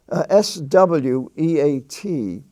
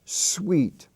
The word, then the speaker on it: sweat: EA rule for example s e s w e a t is not it's not pronounced sweet it's pronounced sweat t-h-r-e-a-t is pronounced threat